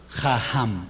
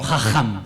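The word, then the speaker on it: חכם: Aquí esto es ¿qué? Una J pero suave. Si tuviera la, el puntico, el dague, sería una K. Jajam, exactamente, sabio. Ja, pero él no es jajam ni o jajam, sino jajam.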